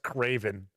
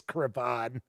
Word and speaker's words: Cravon: I do not believe it's pronounced Craven. I think it's Cravon.